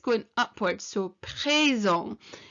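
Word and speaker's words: présent: it's going upwards so presong and the t at the end is silent okay so present and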